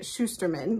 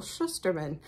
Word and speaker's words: Shusterman: by Neil Schusterman um I had been pronouncing it Shusterman but I got the opportunity to see him speak uh on Thursday night this week and I now know that it's Neil Schusterman um I also really